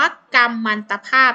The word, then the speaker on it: กัมมันตภาพ: ว่า กัมมันตภาพ นี่ แหละ กรรม ตัว แรก เลย นะ คะ ใช้ เป็น สระ อำ นั่น เอง จะ ใช้ เป็น สระ อำ นั่น เอง นะ คะ เวลา อ่าน ออก เสียง แต่ เวลา เขียน เรา จะ เขียน ด้วย ไม่ หัน อา กาด มอ ม้า สะ กด นั่น เอง ค่ะ สวัสดี ค่ะ ใคร เพิ่ง